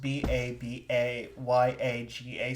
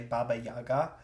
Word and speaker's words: Baba Yaga: And it is so a lot of people do like it's pronounced B A B A Y A G- A. So a lot of people say Baba Yaga, but it is Baba Yaga.